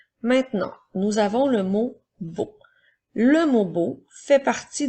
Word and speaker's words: beau: Alors, c'est pour ça qu'on fait beau. Alors, rappelle-toi, le son E-A-U fait le son O.